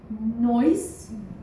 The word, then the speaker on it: Neuss: Today we are in the beautiful city of Neuss. Did I pronounce it correctly?